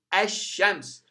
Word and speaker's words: الشمس: add al into it, the al is assimilated. It turns to be silent. And the sheen is strengthened by shadda. You say ash-shams. You don't pronounce the lam of al, and you strengthen the pronunciation of a sheen.